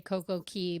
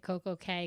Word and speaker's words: Coco Cay: I'm going to say Coco Key because I hate calling it Coco Cay because that's wrong. Yeah. Everyone who listens to the show knows I pronounce it Key like the Bahamians.